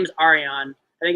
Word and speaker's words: Arjan: So if you ever get a chance to look up him, his name is Arian. I think it's spelled ARJAN, I believe. J is obviously silent.